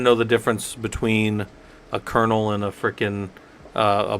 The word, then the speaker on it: kernel: device right I didn't know the difference between Colonel Kel am I just not saying it right kernel kernel oh all right all right right